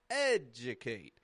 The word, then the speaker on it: educate: It's strong in the part, right? My voice rises up there. Educate. And then it goes flat. Educate. That's the contrast in syllable stress.